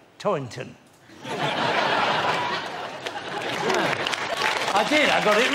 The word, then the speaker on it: Toynton: It's a difficult surname to pronounce with that T sound in the middle, but I think I got it right. Toynton.